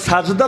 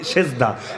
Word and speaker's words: সাজদা: এখন দেখা যাচ্ছে এখন সাজদা তো আরবি শব্দ যদি আমরা বিকৃত উচ্চারণে বলি সেজদা মূল হলো সাজদা সাজদা মানেটা কি সাজদা